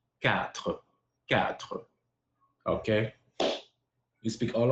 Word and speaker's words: quatre: In French, four is quatre. Quatre. It's like pronouncing the egg like Arabic, Dutch, German.